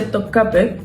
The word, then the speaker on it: Topkapı: En el caso de Topcape, es una palabra que se escribe en turco con esta i sin puntito.